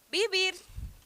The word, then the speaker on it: vivir: Venezuela é bem curioso bibir bibir viver tá que se escreve vivir porém se pronuncia com aquela regrinha do V tá que é lábio dental então fica com sonzinho de B bibir tá então jbo Tubes